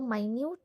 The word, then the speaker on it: minute: First is there was a minute tear in the wedding dress. See how I am pronouncing it, MINUTE, minute tear.